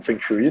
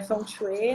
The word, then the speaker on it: Feng Shui: Eu sabia que tinha um nomezinho mais chato, que a gente conhece muito como Feng Shui, né? É, mas na verdade é Feng Shui, né?